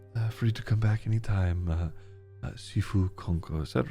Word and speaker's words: Sifu: Otherwise typically spelt Shifu. But it's pronounced Sifu.